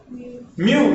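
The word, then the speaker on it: μ: where is m m mu mu mu you you yeah you pronounce this as Mu yeah and you write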